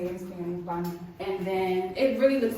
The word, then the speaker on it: baño: Alright, so baño. That's how they say it in Spanish, baño.